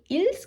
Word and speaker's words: ils: ඒකට අපි s එකක් එකතු කරනවා. මේක අපි ils කියලා කියන්නේ il කියලා කියන්නේ.